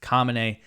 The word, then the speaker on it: Khamenei: Khamenei said, quote, or Khamenei, his name is very similar to the first Ayatollah Khomeini, but his name is pronounced Khamenei.